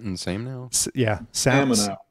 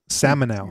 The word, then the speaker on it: Samenow: I don't know how to pronounce it. Samenow. Samenow.